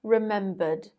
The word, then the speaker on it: remembered: For RP, it isn't pronounced. Remembered, remembered. It's pronounced with a D because it ends with a schwa vowel sound, which is voiced. But in American English, the R is pronounced at the end of words, and it would sound something like remembered, remembered.